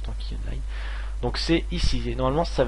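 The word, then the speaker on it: Tanki Online: tanky online voilà ici tanky online comme ça se prononce tanky online donc c'est ici normalement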